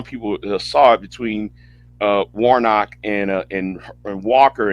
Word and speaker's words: Warnock: 2022 sure against her Ursa Walker and Senator Womack I hope I hope I pronounce his name right Warnock yes but yes or not Warnock I'm sorry